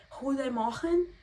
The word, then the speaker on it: Goedemorgen: Eu não consigo nem pronunciar bom dia direito, que é Goedemorgen.